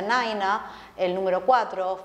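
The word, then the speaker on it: nine: Aviación eh Por ejemplo tenemos el número nueve que se pronuncia naina el número cuatro faa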